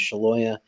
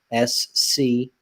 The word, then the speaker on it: Scialoia: which is obviously, and then the last name is Scialoia, Scialoia.